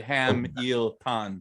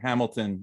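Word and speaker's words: 해밀턴: Right, because I should have said Ham-il-tan, right? Ham-il-tan or something like that. And I was just saying Hamilton.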